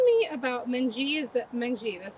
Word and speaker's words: Mengqi: Is that mangji? That's how you pronounce her name. It's actually mangchi. And and it has tone to it. It's mangchi.